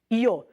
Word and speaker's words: yo: Quando você estiver na Espanha, a maior parte da Espanha, o Y, que o yo é YO, ele vai ser pronunciado como I. O Y é pronunciado como I. Aqui na América, na maioria da América, ele é pronunciado como J.